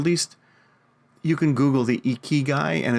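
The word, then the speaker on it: ikigai: article or at least you can Google the Eek key guy and it's really i i g AI so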